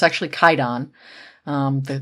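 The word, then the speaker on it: Kwaidan: Uh so this movie is going to be Quaidan. Um from uh or not Quaidon, it's actually Kaidon. Um the the W is silent in the name.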